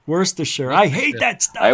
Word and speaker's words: Worcestershire: It's like that Worcestershire sauce. Worcester. Right. Worcestershire. There it is. Worcestershire, yeah. Worcestershire.